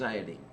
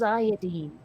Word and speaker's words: iodine: No, element 53 is iodine. Iodine. Iodine. It's not pronounced iodine.